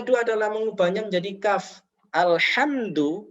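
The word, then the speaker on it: الحمد: Alhamdu menjadi alkamdu. Alkamdu. Alhamdu segala puji, kalau alkamdu ini adalah segala penderitaan. Nah, ini sangat fatal.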